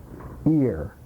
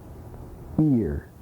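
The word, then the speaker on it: עיר: uh syllable I ear it has an inflection on it ear uh there's a uh an inflection on the vowel here and a um slight aspiration to the consonant ear like at the end of my name the IR is a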